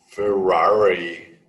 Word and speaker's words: Ferrari: And the R on Ferrari. Ferrari, Yeah. Ferrari. Ferrari. Ferrari. Yeah, this one is strange.